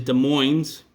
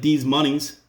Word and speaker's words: Des Moines: And the capital of Iowa is Des Moines. It almost looks like D's Monies.